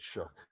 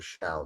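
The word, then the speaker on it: Shough: I don't know why they pronounce it Shook. It's Tyler Shaw to me.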